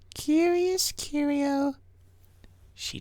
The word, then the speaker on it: Curious Curios: outside to greet her curious curios is how you say that my dear i am